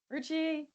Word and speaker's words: Ruchi: Um, it's written as a J but pronounced as an R.